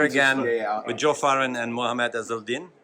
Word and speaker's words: Mohamed Ezeldin: Hi, I'm here again with Joe Farren and Mohamed Ezeldin, correct? Absolutely, well pronounced.